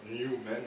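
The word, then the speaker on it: Nu-Men: Les anglo-saxons disent beaucoup, enfin, dans leur argot, ils écrivent nu comme New York, même ils mettent New York parfois. Et donc j'ai pris cette version argotique, mais ça se prononce tout simplement New Men, donc c'est très simple, c'est les nouveaux hommes.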